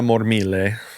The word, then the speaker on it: Mormile: But yeah, so Kixie is uh I'm going to go full Italian on the pronunciation here. Juliana Mormile.